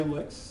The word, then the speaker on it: LyX: There are some minor differences to it just to show you what licks can do. Uh, do note that, you know, this is again pronounced as an L KS, LIC KS, uh, licks.